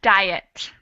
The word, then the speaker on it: diet: Okay, we add the sound I in diet. Mm-hmm. So we have a whole extra syllable. The first word is one syllable, dies. And the second word is two, diet.